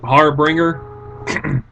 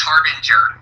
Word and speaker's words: Harbinger: I'm using the Pikachu on Skype, Harbringer. Harbringer, what's going on? Nah, not much. How about you? Well, I'm doing a live stream. By the way, it's pronounced Harbinger.